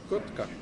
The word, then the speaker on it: Kotka: How do you say it then? Kotka. Kotka. Kotka.